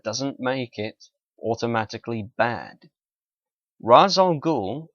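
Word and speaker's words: Ra's al Ghul: make it automatically bad razal ghou or Rael ghoul if you want to go for the comic book pronunciation did not have the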